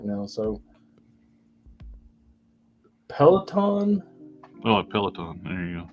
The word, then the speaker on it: Peloton: Then now look, I'm not really good at pronouncing things right now. So Peloton.